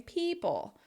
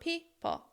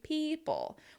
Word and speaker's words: people: You also want to make sure you're stressing people, right? Not people, which is what so many non-native speakers say. It needs to be people with that shaping between the two syllables and the stress on the first syllable.